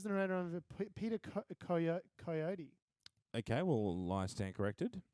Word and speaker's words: Coyote: Peter Coyote.